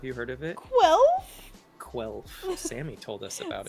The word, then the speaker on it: Quelf: I think that's the actual pronunciation. Yeah. Like, if you were to actually read it out loud, how the game makers intended, it would sound like that.